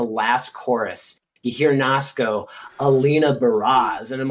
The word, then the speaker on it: Alina Baraz: was i i did not know how to pronounce her name for the longest time i thought it was alaina perez but then like i heard like i so